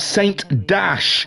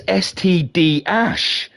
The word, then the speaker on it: STD Ash: We have Saint Dash, or I have realised I'm saying it wrong. It's not Saint Dash, it's STD Ash.